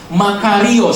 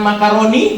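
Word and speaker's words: μακάριος: dalam bahasa Yunaninya adalah Makarios. Sama-sama katakan Makarios. Bukan makaroni bukan. itu makanan bukan makarizo itu obat rambut gitu ya ee untuk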